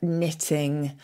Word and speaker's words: knitting: So we've spoken before about the silent K in words like a knight in shining armour, knitting, knock, and that kind of thing. Originally, we did pronounce the K there.